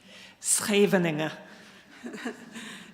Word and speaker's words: Scheveningen: In World War II, the Dutch would use this place name, which I will not attempt to pronounce, but Natasha can. Scheveningen.